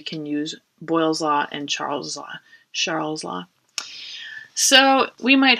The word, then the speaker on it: Charles: law and of course most people don't use the french pronunciation they just would say charles's law but it's charles all right so these